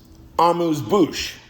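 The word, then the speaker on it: amuse-bouche: utterly the preparatory um amuse bouch because I keep using that word I guess. Okay. Two words. Two words. Amuse. Bouch. Three syllables. Two words.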